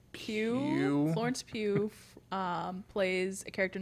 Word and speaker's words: Pugh: Pugh.